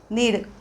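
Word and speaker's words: knead: महत्त्वाची इथे टीप सांगितलेली नीड उच्चार के हे अक्षर सायलेंट सायलेंट लेटर म्हणजेच अर्थ त्या अक्षराचा आपण उच्चार नाही करत सायलेंट लेटर म्हणजे सायलेंट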